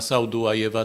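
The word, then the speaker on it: Sadułajew: współczesnego ideologa imperializmu Germana Saudułajewa, tam jest literówka, tam powinno być eł, więc Saudułajew.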